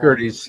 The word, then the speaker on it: Gerdes: Gerdes, yeah, I mispronounced his name earlier.